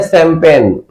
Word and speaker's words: champagne: इसलिए मैं कहता हूं कि कभी भी आप लोग स्पेलिंग देख करके प्रोनाउंसिएशन, उच्चारण मत किया करो, राइट।